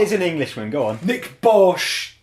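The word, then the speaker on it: Bärtsch: Nick Bosch. Right. Okay. Now I understand who you're talking about. Yeah. Thanks. So it's like Nick Birch. I'm pretty sure that's how he pronounced it.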